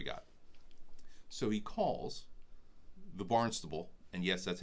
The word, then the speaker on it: Barnstable: When we first went, I called it, it's a talent, I called it Barnes Table because it looks like the word Barnes.